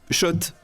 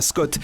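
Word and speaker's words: Schott: Oui, Shot et pas Scott. Ça fait des années qu'on prononce mal la marque.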